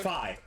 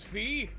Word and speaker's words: Phi: I didn't actually know if it was pronounced Fee or Phi. It's pronounced Phi. I always said it was Fee.